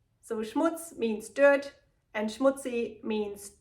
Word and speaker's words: Schmutz: The last one on my list is Schmutz, and it's pronounced and used the same in both languages. So Schmutz means dirt, and schmutzy means dirty.